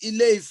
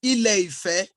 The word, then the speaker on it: Ile-Ife: In fact, it's not Ile-Ife, it's Ile-Ife.